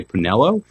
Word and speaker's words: Pinello: i look at it i want to say pinello am i saying it right very good very good i apologize